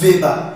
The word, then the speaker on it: Weber: The word is actually spelled Weber, but it is pronounced Weber, V, because it's the German word.